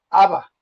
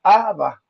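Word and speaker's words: Abbá: cuando decía mi padre pronunciaba una palabra aramea que sea aba, aba, o sea, mi padre. Mi padre cuando los hacía saber a ellos esa palabra aramea se así fue la que él pronunciaba, aba, o sea, se escribe pues no sé como que tiene un acento en la segunda a y pero es aba y pero no era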